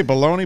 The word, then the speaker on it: bologna: Did you say Bologna, Bologna? I never know how to pronounce that word. Bologna. Bologna, right? Yeah. Well, why did you spell it B-A-L-O-N-E-Y? It's like Colonel.